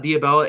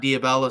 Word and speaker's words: Dia Bell: We'll talk about Dia Bella in a second. And just so I'm pronouncing that right for the D, it's Dia, D-I-A, and then Bell, B-E-L-L, for Dia Bell, not Dia Bella.